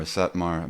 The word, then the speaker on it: Satmar: I thought it was like from like the Satm or Satmar maybe I'm mispronouncing that Jewish community. Satmar.